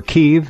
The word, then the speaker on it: Kiev: and his pigs in Kiev or keev as it is pronounced over there against violating the Minsk